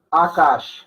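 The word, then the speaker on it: आकाश: Akash. Vean que las dos A son largas, entonces ambas van acentuadas. ¿Okay?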